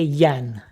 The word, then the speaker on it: Jan: How do you say it in your language? It's Czech. CZ. That stands for Czech. So, I'm going to say Yan.